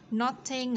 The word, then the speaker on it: Notting Hill: Notting ở đây chúng ta có T trung âm nằm giữa hai nguyên âm, đọc là D theo giọng của anh Mỹ.